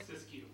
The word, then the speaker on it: Siskiyou: Siskiyou.